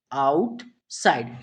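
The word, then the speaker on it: outside: तो इस वर्ड को क्या पढ़ेंगे, आउट आउट साइड। ठीक है, ध्यान रखना, इस वर्ड का उच्चारण क्या होता है, आउटसाइड।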